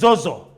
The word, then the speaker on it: ZOHZOH: Well, the original pronunciation of the name is ZOHZOH. ZOHZOH. And I was very surprised when I came and you actually said ZOHZOH. Somewhere around the world that I have lived, nobody has been able to pronounce it that way.